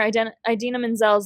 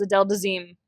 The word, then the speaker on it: Idina Menzel: At the 2014 Oscars, he mispronounced singer Idina Menzel's name as Adele Dazeem, then sent a very large bouquet of flowers and a handwritten note as an apology.